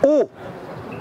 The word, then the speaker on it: eau: E-A-U, ça se prononce O.